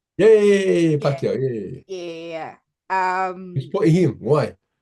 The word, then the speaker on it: Pacquiao: Yeah, Yeah, Pacquiao.